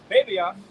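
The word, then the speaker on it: βέβαιος: That word sure in the Greek is pronounced babios, right?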